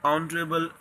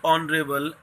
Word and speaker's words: honorable: An ma, an instrument, an honorable job. Not in honest and honorable, h is not sounded.